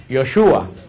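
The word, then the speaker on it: ישוע: que nosotros decimos Jesús en hebreo no se pronuncia Jesús en hebreo se pronuncia yoshua yoshua se pronuncia en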